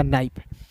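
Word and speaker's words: knife: जाएगा दोस्त क्लास में के बाद एन है तो के को साइलेंट करो यहां पे और एन का दोस्तों न होता है और अंतिम में आई एफ ई रहेगा तो इसका उच्चारण आई के रूप में करेंगे हो जाएगा नाइफ अब ये नहीं है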